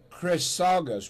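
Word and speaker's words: Chrisagis: Greek name Greek all right very good now pronounce it for us chrus Chris sagus Brothers all right now I know how to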